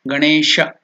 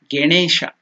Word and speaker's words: Ganesha: So again I will tell you, it is not Ganesha. You should never tell Ge. It is Ga.